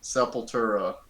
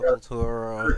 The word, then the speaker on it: Sepultura: All right, Sepultura. I always, it was always, it took me like years to actually, pronounce their name well.